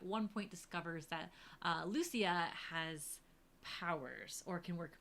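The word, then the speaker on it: Lucía: the names are funky Lucia or there's other ways you can pronounce the name but we're going with Lucia for this show um and her Evolution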